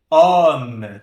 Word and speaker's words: homme: Não chega a ser um homme, né? Tão aberto. Mas ele é bem mais aberto do que esse O aqui.